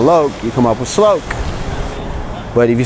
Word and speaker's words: sloke: the loc to l-o-k-e sloke i like the way it sounded because to me it rhymes with cloak like cloak and dagger the old comic book